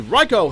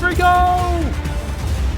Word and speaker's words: Rico: Fortunately, Raiko has a satisfying way to deal justice to those who have used the tornado for evil. His name is actually pronounced Rico!